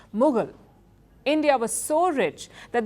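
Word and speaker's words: Mughal: the word as well the English word Mogul as in media Mogul or oil mugul also comes from India it's how the English pronounced mugul India was so rich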